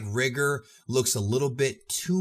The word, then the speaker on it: Rigor: so that works but overall this is indeed rigor and that's how you pronounce it according to the creator now I